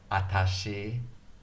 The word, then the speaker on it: watashi: It's a long word, watashi. It can be pronounced watashi, watashi, atashi.